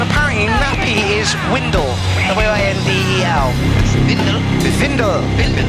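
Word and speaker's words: Windel: Vindel. Yeah, we're pronouncing the W's with a V here. Vindel.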